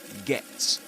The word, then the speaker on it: get: To get where they were going, which is usually the case with Luke Thompson when he pronounces the word get. Usually he produces a glottal stop at the end.